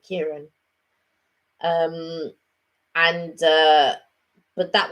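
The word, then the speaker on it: Ciaran: used to work with kieran and it was spelt similar was c-i-r-a-n i think kieran um and uh but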